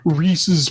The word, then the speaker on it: Reese's: And uh I've been trying to be better about pronouncing Reese's like like you're supposed to because it's actually you know somebody's name as opposed to saying Reesei like I've been saying all my entire life.